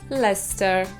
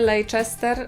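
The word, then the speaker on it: Leicester: Wasilewskiego który gra w ler nie le Chester ani leister ani nie wiem co jeszcze tylko ler w sumie w wymowie proste pisowni trudniejsze No to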